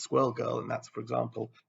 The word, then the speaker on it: Squirrel Girl: until I realized that the whole thing was supposed to be rhyming so it's swirl girl and that's for example